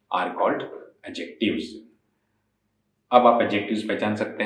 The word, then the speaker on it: adjectives: और एडजेक्टिव्स कहिएगा, ना कि एडजेक्टिव। डी हमारा साइलेंट होता है, डी का उच्चारण नहीं होता।